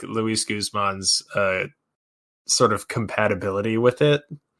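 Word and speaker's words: Guzmán: I believe it's Guzman, Luis Guzman. Yeah, Luis Guzman. I'm pretty sure it's correct.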